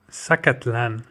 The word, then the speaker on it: Zacatlán: Zacatlan, pronounced Zacatlán, from Nahuatl, meaning place